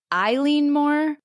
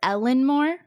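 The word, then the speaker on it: Eilean Mòr: U pronunciations for this it's either considered een Mo or Ellen Moore Okay so whatever way you want to talk it I look at it and I think it's like elen more like Al I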